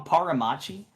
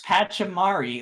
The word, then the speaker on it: Pachamari: But Did you call him Paramachi? I don't know how to pronounce English. You know It's this. Pachamari. Like that, It's, you've just totally swapped where the letters are.